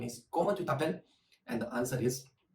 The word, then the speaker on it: comment tu t'appelles: So how you ask the name is comment tu t'appelles, and the answer is je m'appelle.